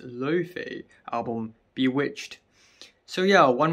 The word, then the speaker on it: Laufey: on the new uh allow fee or actually pronounced Luffy album Bewitched so yeah